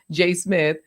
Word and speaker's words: J.A. Smith: He and his co-host, Jay Smith, or J.A. Smith, the A is silent, Jay Smith, they were saying, they were telling you like budget mics you can get.